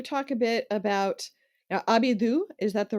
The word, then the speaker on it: ABIBOO: Can you talk a bit about now Abidu? Is that the right pronunciation? Avivo. Yeah, Abibo.